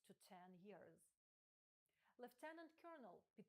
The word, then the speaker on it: colonel: Зверніть увагу на вимову слова. Воно пишеться як colonel, але вимовляється як colonel.